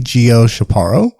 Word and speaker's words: Gio Chaparro: and I am here today with the lovely Geo shaparo did I pronounce it right yeah Geo she's our podcast